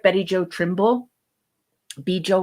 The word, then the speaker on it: Betty Jo: Bijou or Bijou or however Yep. you want to pronounce her name. It's Betty Jo.